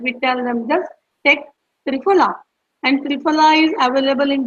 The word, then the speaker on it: Triphala: Yes, it's Triphala. Tri is try, like three, and Phala, that is phala, is the Sanskrit word for the fruit, medicinal fruit.